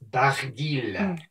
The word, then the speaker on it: Barguil: Now, I think a lot of people think the L is silent, but this is a weird Breton name, and it's Barguil.